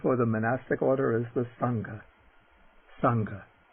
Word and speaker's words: saṅgha: monastic order is the sangha sangha that sangha but a little aspiration there sangha and then the nasal